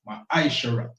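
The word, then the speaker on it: מעשר: verse 8 to 10, means tenth in the Hebrew, and is pronounced ma'aishara.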